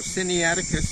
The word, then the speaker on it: Sinaiticus: in the Attic with a long boom so Cindy Atticus is pronounced sigh nae Eddie cut the fresh lines on the third syllable very